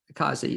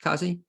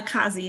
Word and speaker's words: Cozzi: introduce my first guest and she is akazi is that am I pronouncing it correct Causey Causey yes okay well how do you what do you prefer uh Kazi is fine because and she is the executive